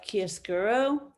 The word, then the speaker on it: chiaroscuro: you a little bit of a history of kiesguro that's how you pronounce it it was um developed and perfected